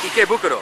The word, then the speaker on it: Ikebukuro: Because I totally pronounced it wrong. Ikebukuro.